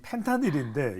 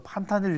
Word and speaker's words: 펜타닐: 자, 그래서 이제 이 펜타닐인데 이 펜타닐 뭐 판타닐 이렇게 발음하시기도 하는데 이게 말 그대로 사람이